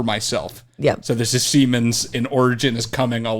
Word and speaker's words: Siemens: No, it's pronounced. No. It's definitely. It's 100% pronounced Siemens.